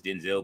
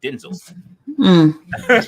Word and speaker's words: Denzel: says everybody for years thought my name was Denzel but it's actually pronounced Denzel just like what I would why' you tell